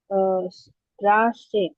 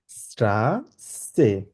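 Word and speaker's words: Straße: স্ট্রা আছে সেট সত হ্যাঁ চ হবে স্ট্রা স্ট্রাসে স্ট্রাসে স্ট্রাসে স্ট্রাসে আচ্ছা আবার বলুন স্ট্রাসে আবার এক্সাক্টলি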